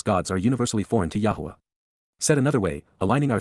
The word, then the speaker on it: Yahowah: To know Yahwa is to respect him. To understand Yahwa is to rever him. Yahwa. Yahwa. The proper pronunciation of the name of Eloha.